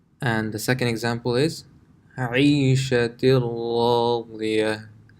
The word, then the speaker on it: عيشة راضية: This tanween, the noon, if it was by itself, it would be pronounced عيشة, but that noon sound is completely gone and it's connected to the ra. عيشة راضية. عيشة راضية.